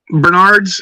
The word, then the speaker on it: Bernard: Because I have Simone's, I have Bernard's, and Manu's. It's pronounced Bernard. Bernard. Bernard, not Bernard.